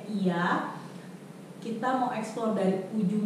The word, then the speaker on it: Oia: Jadi tulisannya tuh OIA, tapi dibacanya Iya.